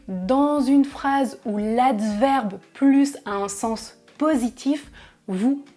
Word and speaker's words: plus: Dans le mot négatif, il n'y a pas de S, donc dans une phrase où l'adverbe plus a un sens négatif, vous ne prononcez pas le S.